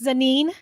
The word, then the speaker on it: Zsanine: yeah, and it's Zsanine. Ja. Ja, Ja. Like Zsa Zsa Gabor, like Janine.